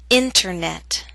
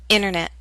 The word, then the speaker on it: internet: the same prefix enter I'll first read the word with careful pronunciation you will hear the pronunciation of T then I'll repeat the word with fast andal pronunciation you will not hear the T listen carefully and try